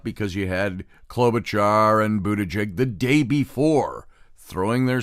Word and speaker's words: Buttigieg: Buttigieg, I want to keep saying Chegg. It's Jeg. They said you pronounce it Buttigieg. Really fast, so Buttigieg.